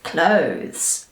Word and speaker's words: clothes: now and that is clothes alright so this word is often split into two sounds or two syllables which is incorrect it's only one sound we say clothes not clothes is all right so